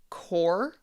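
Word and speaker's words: corps: Listen closely to this one. Core. There are two silent letters in this word.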